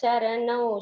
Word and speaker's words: चरणौ: Secondly, the na pronunciation should be clearer. Shri Venkatesha charanau sharanam prapadye. It is not na, neeladi. There it is na. That is a different na.